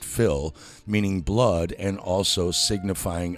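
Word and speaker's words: fuil: The average man or common run of humanity is comprehended in the term Philistine, taken from the Irish word f u i l pronounced fill, meaning blood and also signifying a family or tribe.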